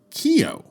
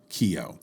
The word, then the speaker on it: Kio: and some were not in Russian a movie theater is called a Kino theater or or often Kino for short if the N is not illuminated then you get Kio that is the official